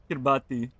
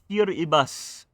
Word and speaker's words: Kiribati: uh, Kiribati. No, it's pronounced Kiribati. Oops, forgive me for mispronouncing that.